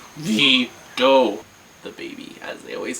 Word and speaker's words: olvido: I said Olvado for a long time, and they were just Wendy, Olvido. I'm Olvedo? Olvido.